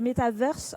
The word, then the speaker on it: metaverse: juste avant qu'on commence je crois qu'on dit métavers en français et metaverse en anglais c'est bien ça oui